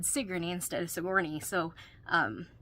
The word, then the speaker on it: Sigourney: they would if I tell them how to say sigy um they were very very upset um that their local news kept saying it wrong so they kept was saying it was soury and this bothered this